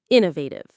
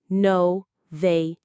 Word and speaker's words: innovative: For this word, the stress is right at the beginning on innovative. It comes from the word innovation, which means a new idea or new method. Let's try it. Inovative.